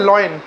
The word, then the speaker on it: lion: लॉयन। और पहली बात तो ये है कि लॉयन जब मैं बोलता हूँ तो मैं गलत बोल रहा हूँ उसको, ये प्रोनाउंसिएशन गलत है। LION लायन होता है।